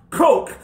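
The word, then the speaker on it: choq: word spelled c h o q and it's pronounced coch k h o k e which means appointment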